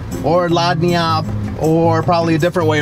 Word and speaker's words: lagniappe: got to go the G is silent would have known we're learning stuff every single day are you feeling it me too can anybody tell me the definition of Lonnie up anybody something giving as